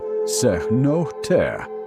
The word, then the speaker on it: cenote: A cenote, pronounced approximately sehnoteh in the Yucatec Maya language from which the Spanish word derives, is a natural sinkhole